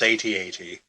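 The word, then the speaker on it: AT-AT: heard it here the people have spoken it's atat yeah uh and that's one other thing uh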